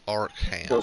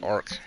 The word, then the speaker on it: Arkham: Playing Arkham City still It's Arkham. stuck. That's how it's pronounced. Arkham.